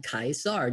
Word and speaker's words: Caesar: read that it says nero caesar although they probably would have pronounced it in latin kaisar just like it was written in um in greek all right so um